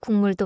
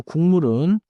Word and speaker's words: 국물: 그리고 국물은 자연스럽게 국물처럼 들려요. Spelling is 국물, but the sound often becomes 국물. So I read the card as 국물, but I should expect to hear 국물.